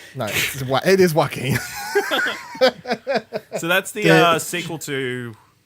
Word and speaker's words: Joaquin: No, it is Joaquin.